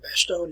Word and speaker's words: Bastogne: that you can actually go to bastogne or bastogne as you would pronounce it today there's american memorial that's